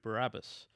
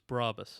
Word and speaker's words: Brabus: Like I'm doing at the moment a G800 Barabbas, or as I keep getting told in comments, it's Brabus, so I need to train my brain to say it properly.